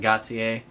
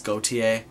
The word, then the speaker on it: Gotye: a Gotti goate song see I'm saying Gotti but it's goate it's go it's bulgin hello got to say it like in bulgin at least you're not saying it in German It's like got Tai yes and fire y